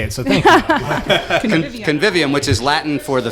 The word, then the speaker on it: convivium: curious how to say it so thank you convivium which is Latin for the feast the feast